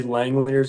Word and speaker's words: Langeliers: Matt Chapman and then Shea Langeliers, is that how you say it for the Yeah.